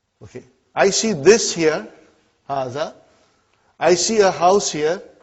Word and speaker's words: هَذَا: pronounced like haha huh but this Aleph is not written it is explaining the key also so it hazzah okay haza means this and Brayton